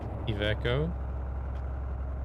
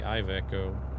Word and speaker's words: Iveco: Iveco. I know a lot of people say Iveco. But if you pronounce the I like the Swedish way you pronounce an I, then it's Iveco.